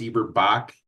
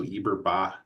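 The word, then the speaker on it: Eberbach: I've heard it pronounced Eber-Bach and also Eber-Bach with the silent.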